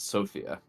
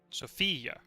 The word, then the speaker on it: Sofia: It is in fact Sofia, according to the Wikipedia pronunciation guide.